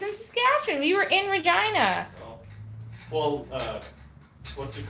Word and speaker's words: Regina: Yeah, also, just to clarify, that town's name is Regina. The place that rhymes with fun.